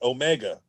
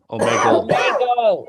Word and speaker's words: Omegle: It's OMEGA. Omega. Am I saying it right? Omegle. Omegle with an L, right? So like OMEGLE. so me and Real Street.